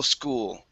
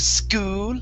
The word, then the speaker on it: school: Okay, this so right here, this is medical school. Okay, instead of school and really pushing into that ooh, it's school, medical school.